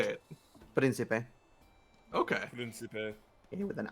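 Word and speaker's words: príncipe: Principe.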